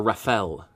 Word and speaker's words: Raphael: in this series on Raphael or rapel as I've heard him sometimes pronounced as okay use some blue